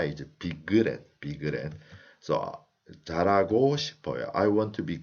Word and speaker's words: 잘하고: So 잘하고 싶어요. I want to be good at. So how did I pronounce? 잘하고 싶어요. When le meets her, this her is omitted. So 잘하고 싶어요.